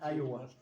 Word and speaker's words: Iowa: Y el otro es Ayowa. Ay. Se escribe una I, una I mayúscula. una a W y A, una I grande, o sea, mayúscula. A W A A es Iowa.